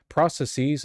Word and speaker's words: processes: Processes is cringe. It's different than pluralizing hypothesis. Use a short e to sound less tech bro.